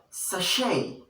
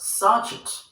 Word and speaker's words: sachet: This is the sound sh, as in shoe and sachet, not sachet. The word is never pronounced sachet, it is pronounced sachet.